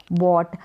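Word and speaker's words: bought: आई बॉट, बाई की second form बॉट, जहाँ पर ये GH साइलेंट है, तो मैंने, बाई का मतलब खरीदना और बॉट का मतलब खरीदा।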